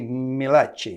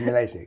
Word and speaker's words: Milacci: Yes, it is Italian, but we do not pronounce it in the Italian way, obviously. Which would be Milacci. Milacci, yeah. Right, but it's Milacci.